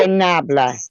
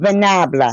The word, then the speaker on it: fanabla: Vanabla. fanabla, Yes. Is it an S or a V? fanabla with an Fanable. S. Sanabla, With an F. F. Like Frank.